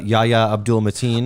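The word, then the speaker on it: Yahya Abdul-Mateen: that's what i've heard um also um uh yaya abdul mateen okay that's how you say his name he's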